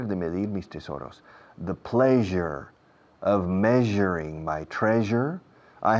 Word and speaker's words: pleasure: I've never felt so much pleasure. Fijaos en la pronunciación. Pleasure. Je suis. En francés, je suis, je, ese je, que es una SH inglesa vibrada con las cuerdas vocales en acción.